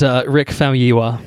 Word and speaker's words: Rick Famuyiwa: And Rick Famuyiwa would be the pronunciation of that man's name.